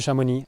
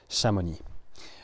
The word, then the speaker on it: Chamonix: And so if I want to say I'm going to Shamon, I will say so at Shamon.